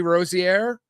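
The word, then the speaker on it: Rozier: scammed or not, but it involves uh Terry Rosierre. Rosair, is that how you pronounce it?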